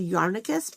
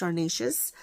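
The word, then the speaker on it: Yarnacious: don't know why but I want to say yarus but it's definitely not that it's Yar nacius so the dyer is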